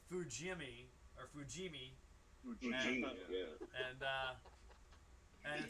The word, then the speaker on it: Fujimi: So it's F-U, Jimmy.